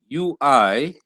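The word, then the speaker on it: υι: word u e and u i would be and you said he does he like is in the word sweet so yes or for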